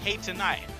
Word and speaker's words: H&I: Sorry to be rude, but do you mind just pronouncing my name correctly, if that's okay? H&I. I'd prefer Hinny, but let's go.